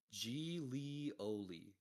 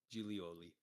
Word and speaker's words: Giglioli: Gigglyloid, however you fucking pronounce that. Right. Gigglyloides whale. BIG. Reported species of whale observed and named by Enrico Hillier. Oh, nice. There's a pronunciation here. Gilioli. Gilioli.